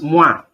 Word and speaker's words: moi: When we see these two vowels, O and I, it's pronounced ua, ua, ua, ua. Example is moi, moi, me, moi. Moi means me, moi.